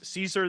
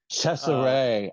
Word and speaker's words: Cesare: And Curtis Harrington plays Caesar the Sleepwalker from Cabinet of Dr. Caligari. Cesare. I learned that's how it's pronounced.